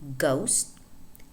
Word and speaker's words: ghost: For example, ghost, in which the H is silent, or laugh, enough.